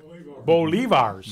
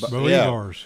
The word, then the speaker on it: bolivars: Bolivars. Bolivars.